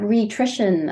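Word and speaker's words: Rhitrition: to spell it out it's r h i t r i t i o n it's the word nutrition and re-rhi at the beginning but there is free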